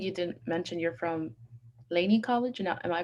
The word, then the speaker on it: Laney: And I don't think you didn't mention you're from Laney College. Now, am I pronouncing that right? Is that where you're currently going? Who, me? Yeah. Yeah, I go to Laney College.